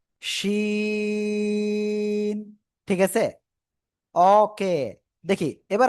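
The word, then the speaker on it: شين: দেখেন, আপনাদের ভিতরে একজন কিন্তু উচ্চারণ করতেছেন সিন, আপনাদের ভিতরে একজন উচ্চারণ করতেছেন সিন, সিন না, শ্বাসের শব্দ উচ্চারণ হবে, না হলে হবে না। শিন, ঠিক আছে?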